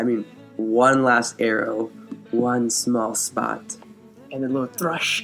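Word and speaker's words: Smaug: I would like to point out that they've been saying Smal's name wrong. They've been saying it's smog. It is not Smog.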